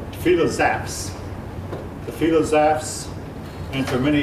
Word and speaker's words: philosophes: Now, this word might look like it's misspelled, but actually it's a French word, and it is properly spelled. It's pronounced philosophes.